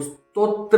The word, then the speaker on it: स्तोत्र: कोई स्तोत्र पाठ करते हैं तो स्तोत्र होता है। बहुत सारे लोग बोलते हैं स्त्रोत पाठ कर लो। कौन सा स्त्रोत पढ़ रहे हो, कौन सा स्तोत्र, अजीब सा कुछ बोलते हैं।